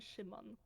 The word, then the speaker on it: Szymon: Those are their names just in Polish they're pronounced. Yeah, this would be... how would you say... Jacek, Józef, and Szymon. Szymon, okay.